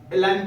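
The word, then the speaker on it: align: जी हमारा silent form में है। तो इसे हम लोग क्या पढ़ेंगे? एलाइन पढ़ेंगे।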